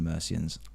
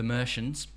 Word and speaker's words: Mercians: band okay the mercians I for some reason didn't think they were pronounced the mercians honestly right the Americans that was what I initially thought the merians the Mexicans I've